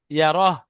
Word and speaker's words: يره: মাশাআল্লাহ, ছোট হা উচ্চারণ করবে, শেষে যে হাটা হায় সাকিন হয় ওটা ছোট হা, ইয়ারাহ।